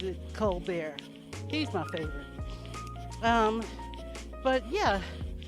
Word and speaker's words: Colbert: It's spelled Colbert, but he pronounces it Colbert.